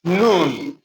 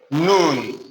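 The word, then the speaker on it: נון: N as we pronounce the N in net.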